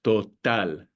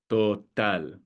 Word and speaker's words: total: So total, total.